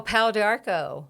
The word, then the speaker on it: Pau d'Arco: And you might help me with the pronunciation of this. Pau d'Arco? Oh, Pau d'Arco.